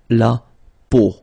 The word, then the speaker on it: peau: it, but then, so the sound that you will have to pronounce when you've got these three vowels combined together, it's the sound O. Okay, so really simple, O, okay, so you get la peau, okay, la peau.